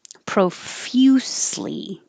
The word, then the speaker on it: profusely: So I put few, F-Y-U, but it's the same pronunciation here. I just put 2 different ways to think about the spelling. If you think of few, that's the same. It's the FY combination.